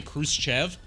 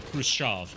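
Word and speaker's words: Khrushchev: I hate when people say Kruev cuz that's not how it's pronounced. It would be Krucha.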